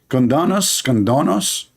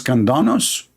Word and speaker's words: Candace: How you say her name? Condonos? I want to share my condolence with your mom about having a kid like you. Her name is Candace, Candace, yeah.